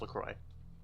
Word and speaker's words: LaCroix: LaCroix? LaCroix? I'm like, LaCroix? I'm 95% sure it's pronounced LaCroix. LaCroix. Yeah, it's like French or whatever.